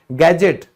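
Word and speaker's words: gadget: जैसे बजट में D silent है, ये तो सबको पता है। गैजेट, कोई भी आप इक्विपमेंट लेके आते हो, मोबाइल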